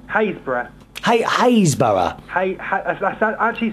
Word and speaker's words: Happisburgh: Haysborough. Haysborough. That's actually spelled, or it's actually pronounced Happisburgh if you spell it, but it's actually pronounced Haysborough.